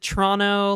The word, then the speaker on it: Toronto: I you pronounce the second T. No, I think most people pronounce it Toronto. Like where I'm from, people definitely say Toronto.